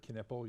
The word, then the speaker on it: Knippel: So my background, my name's Knippel. You pronounce the K, even though you may not think it's pronounced.